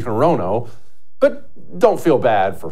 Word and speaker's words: Hirono: of Hawaii yeah Perino her name is Maisie harono but don't feel bad